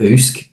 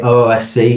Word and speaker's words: OOSC: fan favor that's awesome it's funny because we pronounce it usk as if almost as if the sea was